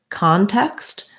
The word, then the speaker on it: context: look at the word context this word has first syllable stress so just like install